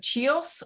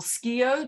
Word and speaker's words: Chios: Not totally successful, as he was wounded at the siege of Chios or Skio, depending on how you want to pronounce it, the Greek island that the Greeks fought for independence from the Ottomans.